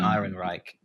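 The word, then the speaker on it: Ehrenreich: There is a police officer played by I always pronounce his name wrong. Olden N olden Iron Reich.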